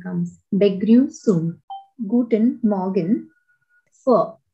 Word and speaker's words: Begrüßung: Word is pronounced as Begrüßung. A so sound comes. Begrüßung.